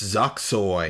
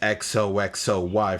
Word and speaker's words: XOXOY: Up next, Zoxoy. No, wait a minute. This one's pronounced XOXOY from Carbomb's guitarist Greg Kubacki.